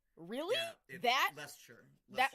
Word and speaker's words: Leicestershire: Yeah, that Leicestershire. that like 12-letter word? Leicestershire. Oh, Leicester. I thought this whole thing. Well, because Leicester's the city, and then Leicestershire, I guess, is the county or whatever.